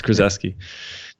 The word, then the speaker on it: Krzyzewski: yes ZW s ki Krzyzewski it's Chris s key yeah it's uh they